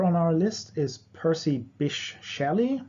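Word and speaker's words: Bysshe: our list is Percy Bish Shelley so the middle name is pronounced like fish um and the life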